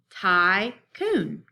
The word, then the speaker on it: tycoon: The first part of the syllable would be tie. The second part would be coon.